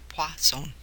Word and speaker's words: Poisson: distribution so this pone it's pronounced P pone Pon pone probability distribution it's used